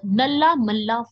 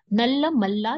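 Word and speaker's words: नल्लामल्ला: ठीक है, नाम थोड़ा अजीब लग सकता है, बट ये प्रोनाउंसिएशन ऐसे ही है इसकी, नल्ला मल्ला या फिर नल्ला मल्ला करके भी आप याद रख सकते हो।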